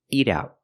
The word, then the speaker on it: eat out: it's not eat out American pronunciation is eat out eat out the te and eat is a fast D eat eat out and the te and out is a stop te eat out you can